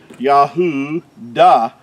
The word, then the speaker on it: Yahudah: Yahudah is how you would pronounce the tribe of Judah, Yahudah.